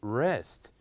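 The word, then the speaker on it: wrest: we have the word rest what is the letter that here we kept silent it is is letter W so here we don't say or we keep the letter W silent and we pronounce the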